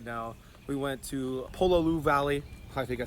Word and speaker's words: Pololu Valley: super Holly here right now we went to pull a Lu Valley I think I said it right that time yeah Pololu Valley and got super summer as you can see